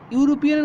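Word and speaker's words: European: কারণ কি, এখানে উচ্চারণটা কেমন, ইউরোপিয়ান, ইউরোপিয়ানের উচ্চারণ কেমন, ইউরোপিয়ান।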